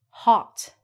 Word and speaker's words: hot: So a stop sound just means we don't say the T. So we look at this and we say hot.